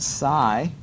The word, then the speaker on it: psi: Now that funky symbol, I call it psi. I think it's spelled psi.